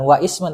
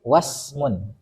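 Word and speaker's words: واسم: fi'il dan Isim maka fi'lun bukan wa Ismun tapi wasmun fi'lun wasmun karena hamzahnya Hamzah wasal beda dengan kalau hamzahnya kalau kita Hamzah qat'i Maka nanti Wa Ismun dibacanya salah itu makanya penulisannya tanpa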